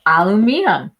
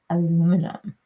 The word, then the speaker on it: aluminium: British say alum. That's it. Aluminium. The whole thing is made of alum or as we would say aluminum.